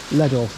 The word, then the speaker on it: Llanelli: Llanelli.